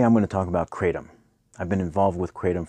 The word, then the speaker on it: kratom: Kratom is pronounced in different ways. I say Kratom, some people say Kratom, some people say Kratom, but it's really known as Mitragyna speciosa in its native countries.